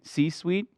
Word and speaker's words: C-suite: every c-suite uh c-suite like how you say sweet c-sweet you got it sweet am I saying right you're saying it right okay